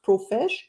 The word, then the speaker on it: Profesh: expert and founder of profesh is it pronounced profes it is yes like a professional yes profes with the